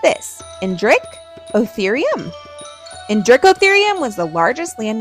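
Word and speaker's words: Indricotherium: You say it like this, Indrich Otherum.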